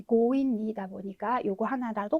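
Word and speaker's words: 強引: 인자를 썼으니까 강하게 끌다, 무리하게 억지로라고 하는 단어에 고인니라고 하는 형태로 많이 쓰이는 단어입니다. 그래서 이 강자가 뭐 강도라던가 강탈 이렇게 할 때도 고우라고 읽히기는 하는데요. 아무래도 이 고우라고 읽히는 가장 대표적인 단어가 이 고인니다 보니까 요거 하나라도 꼭 기억을 해주시고 넘어가셔야 되겠습니다.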